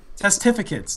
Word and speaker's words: Testificates: Testificates. That's how you pronounce it.